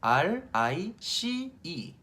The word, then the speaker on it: rice: R-I-C-E, rice. 아이스를 생각해서요. 아이스크림 할 때 아이스. 그 앞에다가 rice 되죠?